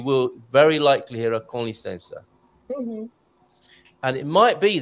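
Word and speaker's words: com licença: minute, they just said con licença, like con man rather than com as in comms.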